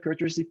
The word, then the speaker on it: characteristic: Characteristic. It's like, why do we say characteristic if it's CH? CH is cha in English.